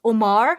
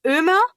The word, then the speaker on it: Ömer: His name was Omar. It's pronounced Ömer. But my mom, since she didn't understand, like she didn't know how to pronounce the Ö, she didn't understand it.